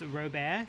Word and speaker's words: Robert: Isn't it in French Canadian pronounced Robert? It's that man. Robert. No T in French language.